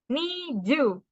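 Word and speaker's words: 二十: Nah, 20 Niju. Karena di sini adalah cara baca 2 sama 10 gitu. Bukan berarti 2 tambah 10 jadi 12 gitu ya. Cara bacanya 2, ni gitu. Dan cara baca 10, ju gitu.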